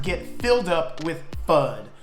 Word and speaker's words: FUD: just what is fun besides rhyming with mud and both things do